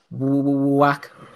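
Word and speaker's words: Wach: Is it Vac or Whack? Whack.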